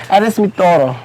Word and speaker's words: Eres mi todo: Eres mi todo.